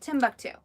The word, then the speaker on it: Timbuktu: at this it's Timbuktu somebody just said wait come on this is Tom buck - yeah but fate or fated said it was Timbuktu oh is Timbuktu oh it's how you say it Timbuktu a different language got